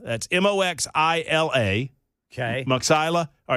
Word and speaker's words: Moxila: All right, it's Magistrate Judge Maxilla. That's Moxila.